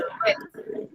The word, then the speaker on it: read: Aquí lo único que cambia, ¿sabes cuál es? La pronunciación. En presente se dice read, en pasado se dice read.